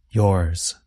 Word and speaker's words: yours: But notice that the S at the end sounds like the letter Z. Z. Yours.